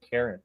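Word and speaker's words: Charon: I said that wrong the ferryman was Karen that was the actual name it's spelled like Sharon c-h-a-r-o-n but it said Karen which is really funny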